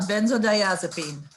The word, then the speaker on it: benzodiazepine: anxiety epilepsy neuralgia withdrawal symptoms from opiates or benzodiazepine i don't know if i know how to pronounce that last one debbie debbie could probably help me with that you did a really good job benzodiazepine oh okay i was close um why else